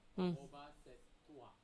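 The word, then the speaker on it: obhāsetvā: So the T is pronounced twice.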